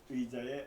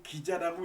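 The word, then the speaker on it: 椅子: 그들이 실로에서 먹고 마신 후에 한나가 일어나니 그때 제사장 엘리는 여호와의 전 문설주 곁 의자에 앉아 있었더라. 자, 의자 이게 기자라고 읽으면 안 돼요. 기자라고 읽을 수가 있는데 의자입니다.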